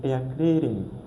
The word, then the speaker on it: erklären: So you're seeing that out with umlaut. So we find that out with umlauts, we remove it and we put an E. We put the E of English, then it will be erklären.